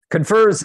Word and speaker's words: CONFERS: rendevu and service operations I think the O is silent there at the end confers is this was this